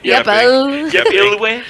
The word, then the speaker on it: YEPILW: Yepilw.